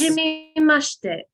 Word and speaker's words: hajimemashite: when you say it, you're not tilting upwards. You're just straight across with the Hajimemashite, yeah. pronunciation. Like it's not Yes. hajimemashite. It's just hajimemashite. Yes, flat. Flat. Okay, flat.